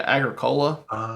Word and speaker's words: Agricola: Agricola. Yeah, Agricola.